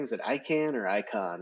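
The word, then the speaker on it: Icahn: it I can or icon it's like icon Carl icon yeah I can okay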